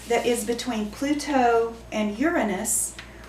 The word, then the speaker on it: Uranus: the sun and pluto uranus actually it's supposed to be pronounced uranus okay so take your